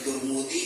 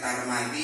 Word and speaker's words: Tirmidzi: Bacanya boleh 3, boleh Tirmidzi, boleh Tarmadi, boleh Tirmidzi. Mimnya tergantung huruf tak di awal. Kalau tur katanya domah, berarti mimnya domah, Tirmidzi gitu.